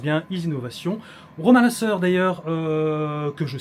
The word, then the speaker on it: IZInovation: partie donc de la société easynovation c'est ça prononce bien easy innovation roman Lassur d'ailleurs que je salue que je